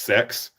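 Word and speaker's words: CeX: a shop over here called CX that's pronounced sex I'm not joking look up their ads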